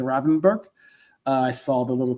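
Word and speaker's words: Gravenberch: Ryan Renberg, I think that's how you pronounce it. Robin Rothenberg. Not even say the G to say the Ravenberg.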